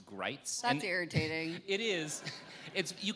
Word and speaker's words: Gritz: writing about him, that his name rhymes with sights, as in rifle sights, or bites, which I think was a subtle way of expressing bias because Bo Gritz definitely bites.